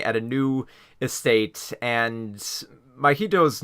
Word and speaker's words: Mahito: M and Mah uh M I think it's pronounced yeah mahito right so this kid mahito